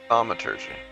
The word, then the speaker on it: Thaumaturgy: How do you pronounce it? Thaumaturgy. Thaumaturgy.